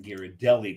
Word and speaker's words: Ghirardelli: And John just redeemed himself as half Italian by pronouncing Ghirardelli correctly.